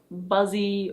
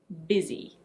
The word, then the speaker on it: busy: It's not "buzzy" or "bussy". It's: busy. Busy.